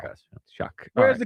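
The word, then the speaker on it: Shough: His name is Tyler Shuck.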